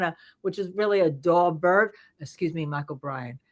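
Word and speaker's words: Daubert: which is really a dobert excuse me Michael Bryan it is pronounced dobert yeah hearing uh all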